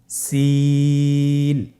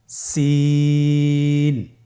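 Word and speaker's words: سين: সিন হরফটি বারিক হরফ পাতলা করে উচ্চারণ করতে হবে। তাহলে আমার সাথে বলুন সিন আবার বলুন সিন মাশাআল্লাহ।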